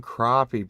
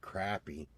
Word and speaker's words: crappie: He's like between 9, and I was like, we call him crappie, but it's spelled crappy, but nobody says crappie. Yeah. Because nobody wants to eat crappie. They eat crappie.